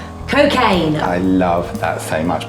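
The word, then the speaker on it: Cokeagne: calls this cocktail is cocaine. I quite like that. Well, yeah, but you wouldn't expect that from Tom Hanks, but let me tell you, it's spelled C-O-K-E-A-G-N-E. Oh, like Coca-Cola and champagne.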